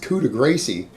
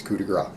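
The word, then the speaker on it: coup de grâce: going to be like, I think that's coup de gracie. No, it's not coup de grace. Trust me. I don't care how it's spelled. Just trust me on this. It's coup de grace.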